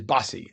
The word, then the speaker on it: Bose: And your name is spelled like like the music company Bose, but it is Bossy.